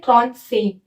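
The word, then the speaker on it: trente-cinq: 35 को बोलते हैं त्रॉन्त सेंग।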